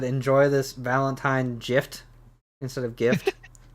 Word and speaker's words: GIF: that was it no the proper pronunciation I don't care who you ask is GIF it really is the only person absolutely the only person who pronounces it Jif is the guy who